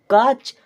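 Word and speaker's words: catch: तरह किसकी तरह च टी सी एच आ रहा है उसका उच्चारण च की तरह करना है आप देखिए कैसे यहां पे क्या लिखा है सी एटी सी एच इसे हम क्या पढ़ेंगे काच नहीं आपको बताया गया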